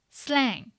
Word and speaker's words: slang: Slang. How many syllables?